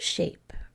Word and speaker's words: shape: And how about shape? Did you spell it S-H-A-P-E? We need that silent E because we have to force the A to say its name.